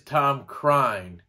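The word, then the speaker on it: Tom Krein: joe found out that it is tom crine so that is how you pronounce that i absolutely love this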